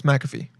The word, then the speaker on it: McAfee: Oh, no, it's McAfee. McAfee. John McAfee. Born September 18th, 1945, is an English-American computer programmer and businessman. He founded the software company McAfee Associates in 1997 and ran it until 1994